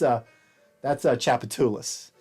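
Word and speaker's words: Tchoupitoulas: That's I'm from Louisiana, so that's Chapatoulas.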